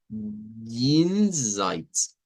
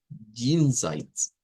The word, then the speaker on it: Jenseits: Entonces, la J en el Deutsch suena más a I, I. Jenseits, Jenseits.